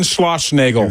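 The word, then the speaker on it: Schlossnagle: That's how you pronounce his name. John Schlossnagel.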